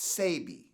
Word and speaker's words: Sebi: SEBI I know it's a baby seddie but it's pronounced say be okay thank you for correcting mm-hmm I was